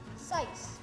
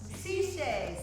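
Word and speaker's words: Sicce: Sice. Sice? Allie? Sis. Sis? Matt, it's Italian. What do you think? Oh. Ciche. Ciche. Allie got it. Ciche. CJ.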